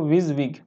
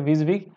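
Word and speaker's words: WYSIWYG: is what you गेट जैसे कि इसको विजिंग विज विग भी बोल देते हैं है ना प्रोनाउंस में क्या बोलते हैं इसको विज विग इतना सारा बोल पाना टफ हो गया इसलिए विज विग and basically means that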